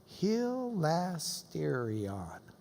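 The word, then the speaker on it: ἱλαστήριον: here it is there's the propitiation let me pronounce that for you hilastérion its mercy seat Jesus is the mercy seat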